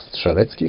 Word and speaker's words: Strzelecki: They date back to 1840, where Polish explorer Paul Edmund Strzelecki, or Strzelecki, how we pronounce it, climbed the highest